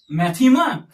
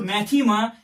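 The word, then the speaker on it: μάθημα: as Mu Alpha Theta ITA Mu Alpha whose pronunciation is maema so this word mathematics comes from this Greek word maema and its meaning is knowledge what some say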